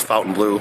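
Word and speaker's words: Fontainebleau: you want to say I think it's actually pronounced Fountain Blue so if you're saying it differently it's Fountain Blue I did a little research on that today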